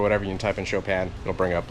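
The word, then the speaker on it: Chopin: reference there is a famous composer isn't it like frederi chopan or something like that but it's spelled like c h o p i n which works perfect because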